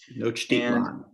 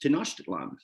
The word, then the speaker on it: Tenochtitlan: I think I've always heard the name of the city pronounced Tenochtitlan. Tenochtitlan.